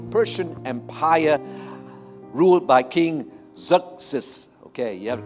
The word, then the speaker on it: Xerxes: dominion of the Persian Empire ruled by King Xerxes. Okay, you have to correct, you have to pronounce it right, okay? It sounds like a name, you know, in an anime game, all right? Xerxes, okay?